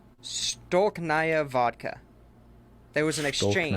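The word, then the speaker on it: Stolichnaya: let me pronounce this right. Stolknaya vodka. There was an exchange. Stolknaya.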